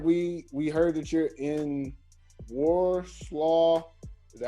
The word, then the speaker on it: Warsaw: We heard that you're in Warsaw.